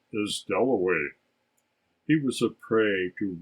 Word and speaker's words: Dalloway: brought him over and clarissa got his name wrong she introduced him to everybody as wickham at last he said my name is delaway that was his first